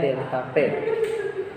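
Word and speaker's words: ΔP: Nah, jadi segitiga itu dibacanya delta P.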